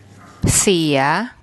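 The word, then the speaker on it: เสีย: เ ส ี ย เ ส ี ย เ ส ี ย This means broken.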